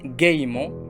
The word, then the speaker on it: gaiement: Le E muet peut se trouver à l'intérieur d'un mot, ça veut dire au milieu, comme gaiement, dont le nom est la gaieté, ou en fin de mot, comme une bougie, vous voyez avec moi,